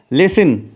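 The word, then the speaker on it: listen: सुनो को इंग्लिश में कहते हैं लिसन। लिसन लिसन में जो टी आता है वह साइलेंट होता है। लिसन में जो टी आता है वह साइलेंट होता है, इसीलिए मैंने इसको पढ़ा है लिसन।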